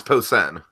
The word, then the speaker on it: Posehn: tell Jacob and drag him out there the pronunciation thing er yeah it's Posehn ok didn't I call that one anyways um